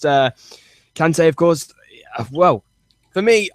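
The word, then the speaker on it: Kanté: Yeah, I think that's the way it's pronounced. Kante, of course.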